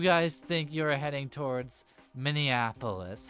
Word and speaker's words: Minneapolis: going to head I'm going to drive to Minneapolis and um hopefully we won't receive any wacky interruptions on our way there. I'm so proud of you. You pronounced it correctly. So, opposed to Monopoulos.